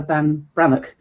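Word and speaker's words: Ban Breathnach: Comfort and Joy by Sarah Van Brannock. Is how you pronounce it. It's not spelt like that. Brethnack is how it's spelled.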